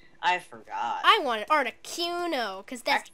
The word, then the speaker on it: Articuno: I want an Articuno, because that's how you say it.